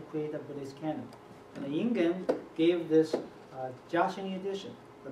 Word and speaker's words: Ingen: But however, the monk I study called Yin-Yuan, or Ingen Luki, right? That's his Japanese pronunciation, went to Japan in 1654 and founded a tradition in Japan called Obaku.